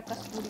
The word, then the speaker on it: कसूरी: मैं हमेशा प्रोनाउंसिएशन गलत बोल देती हूँ, गलत कर देती हूँ, कसूरी मेथी बोलना होता है हमेशा, कसूरी कसूरी।